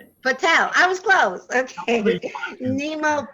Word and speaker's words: Patel: Today's show topic is "Blessed to Be Awake" with Nimo Patel, and I forgot to ask how you pronounced your last name. Nimo. Okay, Patel. Patel.